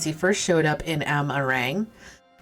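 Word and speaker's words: Amh Araeng: first showed up in amarang you know how i remember how to pronounce that ah meringue because it sounds like lemon meringue and i like meringue he's already preyed on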